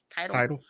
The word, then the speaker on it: Tidal: Tidal. It's tidal, like a tidal wave.